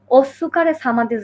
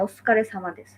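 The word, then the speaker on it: お疲れ様です: ওস্কারে সামাদেস। হ্যাঁ, ওইটা কিন্তু আসলে ওস্সুকারে সামাদেস না, হ্যাঁ? এটা হচ্ছে মানে এই সুটা এমনভাবে উচ্চারণ হবে ওটা আসলে উজ্জ্ব থাকবে, হ্যাঁ? ওস্সু না, ঠিক আছে?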